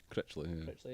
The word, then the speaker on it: Critchley: Is it Neil Critchley? Critchley, yeah.